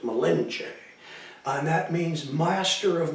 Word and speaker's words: Malinche: called cortes malinche melinda you always see it malinson they pronounced it malenche and that means master